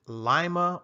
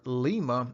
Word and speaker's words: Lima: Whether you pronounce it Lima or Lima, it doesn't really matter. It's still the same thing.